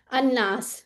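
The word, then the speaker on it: ٱلنَّاس: भी अल काफिरून था यहां पे अल लाम तो नहीं प्रोनाउंस होगा ये लेकिन अलनास ठीक है तो इस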